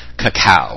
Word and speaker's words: cacao: Chocolate has many health properties that are very great, especially raw cacao, which is how it's pronounced.